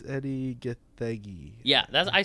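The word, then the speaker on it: Edi: I think it's pronounced Eddie. It's spelled E-D-I, though.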